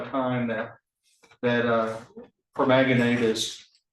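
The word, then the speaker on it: permanganate: Um you know, as far as changing the the the entry points of the permaganate, is that how you pronounce it?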